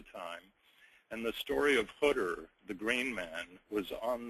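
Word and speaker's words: Khidr: of life oh okay hter by the way it's khh d r but the correct Arabic pronunciation is hter hter literally means the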